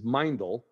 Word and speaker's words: Meindl: boots at hunting camp um but the proper pronunciation is mindel so Phil take it from there give me